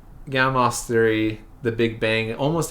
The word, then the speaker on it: Gamow: So we have Gamow on the left. I know it's spelled with a W, but I believe he's Russian, so the W is a V sound. So you have Gamow and Fred Hoyle on the right.